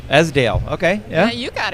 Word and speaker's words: Esdaile: Christine, I'm going to not say it right, Esdaile. Esdaile.